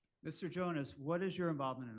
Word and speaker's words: Jonas: Uh I will call Jones. Sir, if you put your name on the record, please. Jonas.